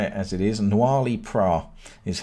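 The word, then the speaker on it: Noilly Prat: Noirly Prat is how I say it.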